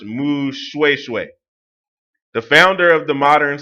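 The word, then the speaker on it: Moshoeshoe: from 1804 to 1870 monster show is pronounced Moo swaysway the founder of the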